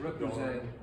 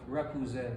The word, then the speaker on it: Repoussé: I can't pronounce it. Repoussé. Say it one time. Repoussé. Repoussé art.